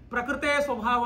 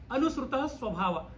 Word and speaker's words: ಅನುಸೃತ ಸ್ವಭಾವ: ಇಲ್ಲಿ ನೋಡಿ, ಒಂದು ನಾನು ಹೇಳ್ತೇನೆ, ಕೆಲವರು ಈ ಮಂತ್ರ ತಪ್ಪಾಗಿ ಉಚ್ಚಾರ ಮಾಡ್ತಾರೆ. ಪ್ರಕೃತೇ ಸ್ವಭಾವ ಅಂತ ಹೇಳ್ತಾರೆ. ಭಾಗವತ ಪ್ರಕೃತೇ ಸ್ವಭಾವ ಅಂತ ಹೇಳಲ್ಲ, ಅನುಸೃತ ಸ್ವಭಾವ.